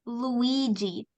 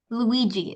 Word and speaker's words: Luigi: so it's this uh it's an Italian name because this is um a setting in an Italian restaurant so it's pronounced Luigi Luigi it's um like Mario